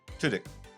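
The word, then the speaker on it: Tudyk: Levy it also has Alan how do you pronounce his name Tudik Tudik yeah Alan Tudik for all you friends that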